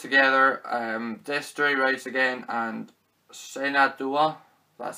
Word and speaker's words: Shenandoah: This comes with The Man from Laramie, Two Roads Together, Destroy Rise Again, and Shenandoah, that's how you pronounce it.